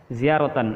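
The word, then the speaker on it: زيارةً: Ziaratan artinya ya, bacanya itu adalah ziaratan.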